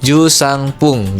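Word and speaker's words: 十三分: Nah, jadi tetap jusang tapi dia untuk menyebutkan menitnya menggunakan kata pung gitu ya. Jadi jusang pung gitu.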